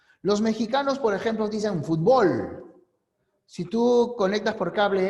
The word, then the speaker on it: fútbol: Para ellos la palabra es aguda. Nosotros decimos el fútbol. Para nosotros es grave.